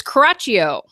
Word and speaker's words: Coraccio: Now, how do we pronounce your last name? It's Coraccio.